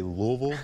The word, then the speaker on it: Louisville: in here from Louisville Kentucky can you say Louisville Tyler Louisville definitely Haley's taught me how to pronounce that one that's for sure so we